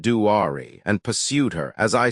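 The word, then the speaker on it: Duare: They saw Duer, pronounced Duari, and pursued her.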